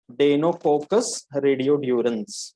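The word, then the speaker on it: Deinococcus radiodurans: Okay, I want everybody to pronounce this name, डेनोकोकस रेडियोड्यूरेंस. बोलो. डेनोकोकस रेडियोड्यूरेंस.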